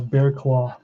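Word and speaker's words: Barraclough: in the afternoon here's kyle bearclaw that's how you pronounce that name it's a tough name to pronounce um it's gonna be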